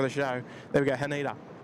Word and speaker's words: Haneda: Haneda. Emphasise each syllable individually.